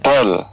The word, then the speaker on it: دال: Dal. Dal. Makhraj huruf dal adalah punggung ujung lidah mengenai pangkal gigi seri atas sambil mengenai gusinya.